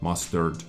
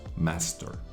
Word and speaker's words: master: Not mustard, as I said in my previous episode, it is actually pronounced master.